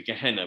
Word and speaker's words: Gehenna: There is a, Gehenna is actually, Gehenna as it's pronounced, is a valley outside Jerusalem, which was where they used to tip all the refuse.